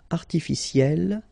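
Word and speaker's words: artificielle: Artificiel will become artificiel. You pronounce it the same way, but then you double the L and then you put at the end.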